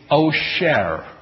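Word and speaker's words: עושר: The Hebrew word for wealth is osher. There's an Do you hear same word except one has an S sound, one has an SH sound.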